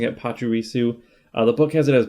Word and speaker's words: Pachirisu: And according to, I looked at the show on YouTube, they were pronouncing it Pachirisu.